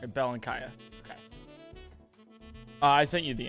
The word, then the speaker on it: Belenkaya: last name okay there there are many ways of pronouncing it but i say uh bell and kaya bell and kaya okay i sent you